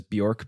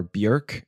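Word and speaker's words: Björk: from this point on when you and I refer to her as bork because it's more comfortable we're just uh we're just making a mistake we're preventing emails from flooding in from Iceland so uh great today's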